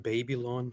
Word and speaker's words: Babylon: Yeah, I have to correct you. It's actually pronounced Babylon. So just so you know.